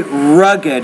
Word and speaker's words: rugged: lean, rear, better, luggage, rug, We say rugged. It's 2 syllables there.